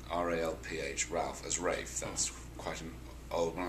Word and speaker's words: Ralph: I've put myself out there calling myself Rafe spelled Ralph. Ralph, right, sorry, reverse that. Ralph spelled Rafe. No, yes, Rafe spelled Ralph, that's right.